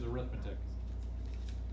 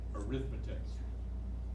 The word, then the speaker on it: arithmetic: First, the way people normally pronounce this word is arithmetic. That's a noun. They put the accent on the I, arithmetic. That's when you use it as a noun. Put an accent over the E. Arithmetic. That's an adjective.